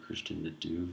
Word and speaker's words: Christian de Duve: Nobel Prize winner Christian De Duve, I think you say. That's how you say his name.